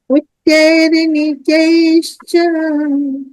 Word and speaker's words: उच्चैर्नीचैश्च: उच्चैर्निचैश्च उच्चैर्नीचैश्च बहुत सुंदर संधि विच्छेद। उच्चै निश्चैश्च, जो पहले नी पे जो र है उसका उच्चारण पहले होगा।